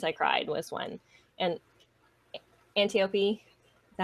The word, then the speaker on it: Antiope: of many times I cried was when, and Antiope, is that how you say it? I'm horrible with names, especially Greek. Yeah, that's right. Antiope.